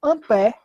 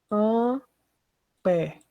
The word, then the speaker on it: Ampère: Então, Coulomb por segundo, um rapaz muito simpático chamado Ampère acabou sendo descrito, né, nessa variável. Então, Coulomb por segundo, a gente chama de Ampère. Esse A maiúsculo. Como é que se escreve Ampère? Assim, ó. ampere.